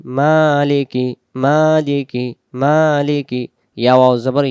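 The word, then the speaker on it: مَالِكِ: আর রহমানির রাহিম তারপরে মিম খারা জবর মা লাম জের লি কাফ জের কি মালিকি মালিকি মালিকি ইয়া ওয়াও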